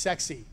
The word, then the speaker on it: CEXC: first is called cexc this is pronounced sexy really is trust me it stands for combined